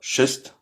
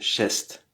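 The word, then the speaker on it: шесть: On dit pas chest, c'est chest. cheste, on dit pas euh sium, on dit siem.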